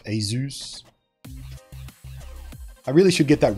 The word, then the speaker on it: ASUS: I say Asus, but apparently it's most closer to Zeus. Asus.